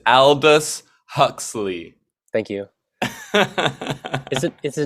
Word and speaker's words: Aldous Huxley: I never know how to pronounce his name. Aldous Adalus Husky. Husky. Yeah, It's Aldous Huxley.